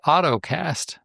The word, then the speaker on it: Ottocast: Well, there's a new solution out here, and it's called the AutoCast, but it's not spelled the way you think. It's spelled OTTOCAST.